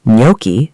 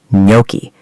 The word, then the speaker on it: gnocchi: Similarly, gnocchi, the small Italian potato dumplings, are not pronounced gnocchi. They are pronounced gnocchi, silent G, gnocchi.